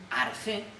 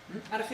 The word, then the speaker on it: arjé: Entonces lo que buscan es un principio, un arjé, que dé movimiento a todo. Arjé es una palabra griega, se escribe ARJE, arjé, aunque también se puede escribir con KH, tiene distintas maneras de escribir, le vamos a poner esta.